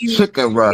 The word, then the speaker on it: Chicora: And I actually pronounced it right. It's Chicora because it's CHICORA.